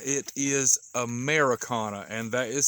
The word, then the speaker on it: Ameraucana: it but believe it or not it is americana and that is spelt a m e r a u all